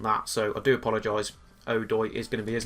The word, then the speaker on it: Odoi: Apparently, one of our players, Odoi, I've been pronouncing Odoi or something very silly like that. You guys have told me that it's pronounced Odoi.